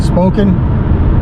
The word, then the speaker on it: Spokane: so I'm cruising through uh I guess you pronounce it spoken smoking Spokane smoking Valley now get ready to